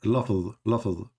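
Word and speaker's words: لفظ: Lafz.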